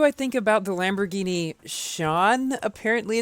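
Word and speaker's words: Sián: What do I think about the Lamborghini Sean? Apparently it's pronounced. It's so weird to pronounce it that way, but because that just sounds like the name Sean.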